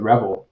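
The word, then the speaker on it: REvil: And we're seeing, so interestingly, this with Revel or R Evil, depending on how you pronounce it, with these guys,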